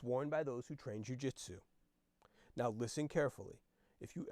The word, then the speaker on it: jiu-jitsu: asked leo confused the poodle corrected him it's pronounced jiu-jitsu no I've never heard of jiu-jitsu said leo